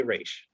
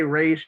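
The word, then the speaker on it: Ra's: i said raw so i'll say raish okay that's fine we get it the universe is i always just i always just say race because that's how batman the animated series taught me how to say it and that was my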